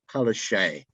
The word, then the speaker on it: Palaszczuk: It's pronounced. Don't worry, Palaszczuk.